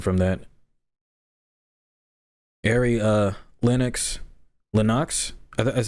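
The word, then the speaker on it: Lennox: there's nothing different from that airy uh linux linux is how you say this all right all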